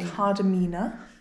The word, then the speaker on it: Kardamena: Kardamena. For the day. That's how you say it.